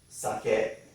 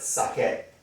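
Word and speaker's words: 酒: here hop hop is morning aha this morning suck it is liquor or alcohol okay okay a lot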